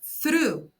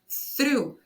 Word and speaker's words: through: que é a palavra through. Through, veja que tem um R ali antes das vogais e esse som do R acaba puxando o som das vogais para ficar um pouco mais fechado. Through.